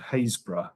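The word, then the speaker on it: Happisburgh: This village is called Haysborough, not how it's spelt, and it's internationally known for coastal erosion.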